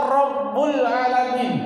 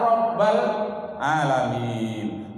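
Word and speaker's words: رب العالمين: Baru salah nanti terjadi amin, amin ya Rabbul Alamin. Nah itu salah. Karena ada huruf ya nanti itu namanya ya nida, harus Rabba bacanya, ya Rabbal Alamin. Tapi kalau tidak ada ya, baru pakai Rabbuna. Tapi kalau ada ya, tidak boleh pakai Rabbuna.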